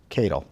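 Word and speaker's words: Katyal: It's K-A-T-Y-A-L. Catyl. That's how I pronounce it.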